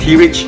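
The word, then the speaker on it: Terelj: now finally let's talk about my stay at t rich National Park now once again for under like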